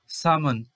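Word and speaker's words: salmon: এরপর সামন, এখানে এল সাইলেন্ট থাকছে, সিজন।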